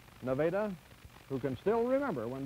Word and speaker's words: Nevada: You notice we call it Nevada here in Iowa. The name of the state out west is called Nevada. That's a Spanish name. Well, here in Iowa, we say Nevada. Nevada, spelled the same way.